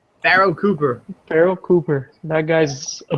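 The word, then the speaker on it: Pharoh Cooper: Farrell Cooper? Pharaoh Cooper.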